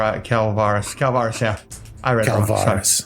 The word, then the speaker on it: Calvaris: that verlos uh 12 noggles 26 Cormac 21 calaris calaris calaris calaris calaris calaris calaris oh god I've been screwed on your name then c a l c a l v a r i calaris calaris yeah I read it's calaris I love